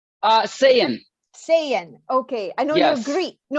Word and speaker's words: Saiyan: How do you pronounce your last name? Saiyan.